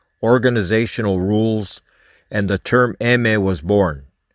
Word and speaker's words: eme: rules and the term emme was born eme was the spanish phonetic pronunciation of the letter m for mafia mexicana or